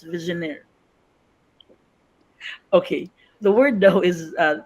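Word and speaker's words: Vigenère: word and I ask my friend accordingly It's pronounced as visionaire ma j listen It's visionaire okay the word though is this is Actually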